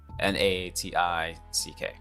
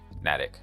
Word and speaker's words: Natick: A few years ago, Microsoft tried to do this exact same thing with something called Project Natick, N-A-T-I-C-K, Natick. I believe it's pronounced Natick.